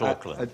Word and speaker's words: Auckland: Not Auckland. But not Auckland, oddly enough. That's spelled with a C, a little redundant C, A-U-C-K.